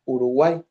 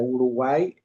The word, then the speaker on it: Uruguay: Como por ejemplo, si nosotros pronunciamos la palabra Uruguay, la palabra Uruguay tiene, si la separamos en sílaba, es Uruguay. Son tres sílabas, ¿verdad?